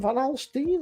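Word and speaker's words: Van Alstyne: name of the town Van halstein van alstein that I pronounce it van a l s t y n e he faced rugby oh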